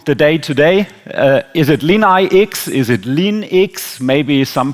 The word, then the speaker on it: LeanIX: learned Roman numerals, so it could also be Lean9, but that would be a wrong interpretation. So I stay a little bit with the English pronunciation, LeanIX, but we have the same issue with Adidas, because in the US everybody says adidas, so there's a different pronunciation in different languages. But LeanIX or LeanIX, I think we were joking this morning, both is okay.